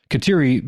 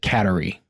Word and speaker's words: Kateri: Also, Katiri became has become a much more popular name for Catholic daughters over the past few decades, and I can't say I've heard any of them pronounce it Katari.